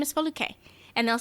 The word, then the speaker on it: Foluke: If you can pronounce Schwarzenegger, you can pronounce Foluke. It's 3 syllables. It's spelled exactly like it sounds.